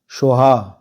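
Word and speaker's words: স্বাহা: শ্রিং ক্লিং সৌ রিং সোহা এখানে সাহা দেখুন লেখা আছে কিন্তু উচ্চারণ হবে সোহা ঋং লেখা আছে এখানে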